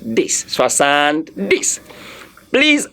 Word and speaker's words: soixante: Soixante this. Soixante this. Please, I forbid. I don't want to hear somebody pronounce soixante. It's not soixante. It's soixante. It's what?